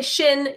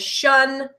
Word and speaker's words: -tion: But I say shin, you know the dictionary says shun, so we'll say that the shun is the most widely used in the standard.